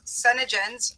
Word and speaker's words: Senegence: This company is Senegens. It's spelled Senegence.